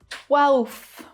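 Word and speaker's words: twelfth: 12th. 12th. Oh my God, look at this word. It's crazy. 5 consonant sounds and only 1 vowel. That means there's only 1 syllable.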